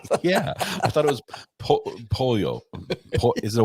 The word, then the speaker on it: pollo: Polo. No, well, no L's, but yeah, they're silent. Pollo.